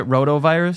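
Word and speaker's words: rotavirus: Kid got a roto virus over the weekend, so it's nothing. Is that how you pronounce it? Roto virus.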